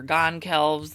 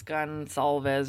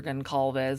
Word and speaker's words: Goncalves: I was calling her Gan keles this was before her name was widely circulating it's gun salves or gunes it's like a Portuguese name so I apologize for